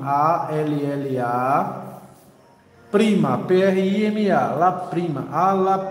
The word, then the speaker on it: alla prima: vai ser lá prima a palavra se pronuncia alla prima a l l a prima prm a la prima